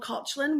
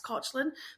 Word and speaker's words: Caitlin: skin tangent I was meant to be called kotlin which is the Irish pronun like Irish pronunciation of kin so it's spelled exactly the